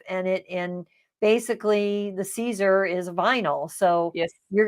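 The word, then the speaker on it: Siser: with the Caesar vinyl that's how you say it's Caesar and the answer is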